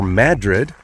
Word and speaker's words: Madrid: on my video to madrid or madrid as they like to pronounce it there i'll probably stop up